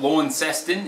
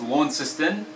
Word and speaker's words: Launceston: not Canberra it's Canberra it's not Launceston its Launceston and it's not Brisbane